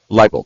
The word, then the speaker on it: Leibold: her at the table is team lead Barb Leibold. Did I pronounce that correctly? Leibold, thank you.